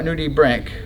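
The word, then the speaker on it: nudibranch: frank cook right yeah nudie brank okay it's spelled like branch but brian okay something for i'm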